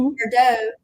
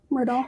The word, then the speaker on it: Murdaugh: Murdo. No, No, Murdaugh. Murdaugh. Murdaugh. Murdaugh. You know what it is, because everybody puts the murders behind it, that I want to say Murdo. Murdo. Murdaugh.